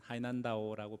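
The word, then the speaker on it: 海南岛: 오늘 또 잠시 인터넷을 보니까 중국 남쪽에 해남도라는 하이난다오라고 발음을 하는데 이 해남도에 관광객들이 8만 명이 가 있는데요, 오늘 아침에 갑자기 코로나 상황으로 출입을 폐쇄한다 해서 8만 명이 거기 갇혀 있어요.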